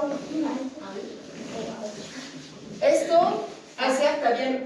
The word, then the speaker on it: eau: O à O. Esto acerca bien O. Claro. Si son juntos, oh. el sonido no se dice E-A-U, se dice O.